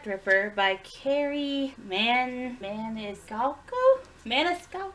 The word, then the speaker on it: Maniscalco: Maniscalco! Pronounced it right.